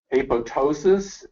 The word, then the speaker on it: apoptosis: can look uh to apoptosis and uh many people you'll hear pronounce the second p but that's not the case and this is how